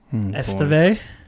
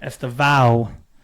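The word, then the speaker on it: Estêvão: Esteo. Estava. Est is the Burnley guy. You're right. Estava.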